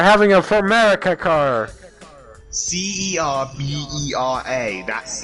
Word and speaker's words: Cerbera: CERBERA. That's how you And for pronounce it.